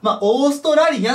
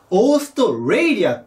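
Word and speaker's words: Australia: なんですけどオーストラリアって発音したくなるんですがオーストレイリア発音しますでこのたも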